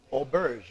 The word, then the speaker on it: Auberge: we're sitting here in the beautiful premise of Olbers right that's right properly said it perfect that's